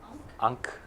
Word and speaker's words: ankh: Ankh. Unk with an H.